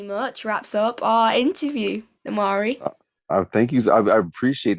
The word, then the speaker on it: Imari: underscore atari underscore ferrari amari atari ferrari that was all the things that people would rhyme with my name when i was a kid amari atari ferrari actually